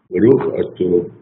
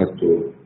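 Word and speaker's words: אתה: Na pronúncia Ashkenazi tem sempre o sinal de O. Então você fala Baruch Atah Hashem, ou seja, bendito seja Hashem.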